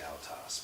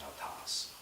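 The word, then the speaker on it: αὐτός: two-syllable word and so I always say I'll toss but I should be saying how toss please to correct that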